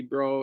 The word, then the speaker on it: Breaux: Pierre is her opponent, but we last saw her on AEW against Chris Statlander as Avery Bro, but Bro spelled like Breaux, so from the Bayou in Louisiana.